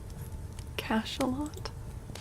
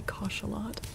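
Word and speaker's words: Cachalot: Cash a lot. Okay. It's cash a lot. Really? It's spelled with a c o. How is it pronounced cash a lot? Why would it not be koshelot?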